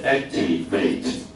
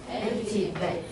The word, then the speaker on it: activate: ，这里是 activate。 activate。你会发现 ate 当动词的时候，它就会念比较重的音 activate，有没有？